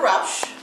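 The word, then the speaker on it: Rauch: and spell it um my name is Rous and my last name is spelled r a u c h and I'm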